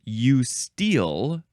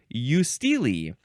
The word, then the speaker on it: eustele: The slightly different pronunciation. Eusteal, emphasize the first syllable. Eusteal second base. Or you can say eusteely. Just going to confirm my suspicions on this one pronunciation. Ooh, yeah, ooh. Eusteal. By the way, steel is S-T-E-L-E. That's why it would be also eusteely.